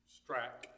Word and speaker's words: Strach: Strach, like a K. Strach. Like a K on the end.